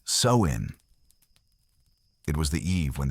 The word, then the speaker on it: Samhain: They called it Samhain, pronounced so-in.